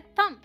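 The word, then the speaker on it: thumb: अब यह क्या है अंगूठा को हम थंब नहीं बोलते यहां पर बी साइलेंट है ये है थम स्कूल में क्या साइलेंट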